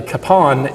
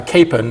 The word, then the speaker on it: Kapaun: origin that uh that the Capone is a Czech pronunciation of the name and uh Capen is a German pronunciation